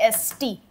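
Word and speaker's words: Angst: गुस्सा होता है ए एन जी एस टी गुस्सा एस्ट जी नहीं बोला जाता एस्ट एंस्ट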